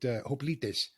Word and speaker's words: hoplites: The ancient Greeks would have pronounced it hoplites.